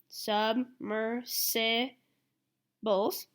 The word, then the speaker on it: submersibles: can use machines called submersibles there's another pronunciation OOP sorry go sub mercy Bulls to explore the deep